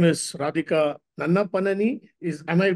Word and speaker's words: Nannapaneni: Uh, Her full name is Radhika Nannapaneni. Am I pronouncing it right? Yeah, Nannapaneni.